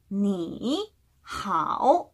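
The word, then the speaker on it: 你好: 好, 또 3성인데 니도 3성이라 니, 好 이렇게 이야기를 해야 되겠죠. 자, 똑같이 내렸다가 올리는 거를 2번 반복해야 되기 때문에 번거로워요. 그래서 3성과 3성이 만나는 소리에는 앞에 있는 3성을 2성으로 발음해준다 라는 문법 규칙이 있습니다.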